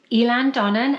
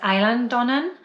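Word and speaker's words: Eilean Donan: of Skye, you see Elan Donnan, and I think it might even be pronounced Island Donnan in Gaelic. And anyway, so we like the name Elan. It's spelt in a peculiar way, so people always get it wrong because the Gaelic language is like that.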